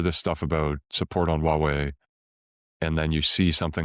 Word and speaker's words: Huawei: and run it on Huawei hardware? Or whatever GPUs they can get their hands on. Yeah. So first of all, it's pronounced Huawei. There's an H in there.